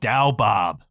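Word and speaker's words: Douwe Bob: a dutch artist called dao bob d-o-u-w-e space b-o-b pronounced dao bob this was released in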